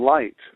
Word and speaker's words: light: the word life in light the word light has the G H you know which is silent but normally when you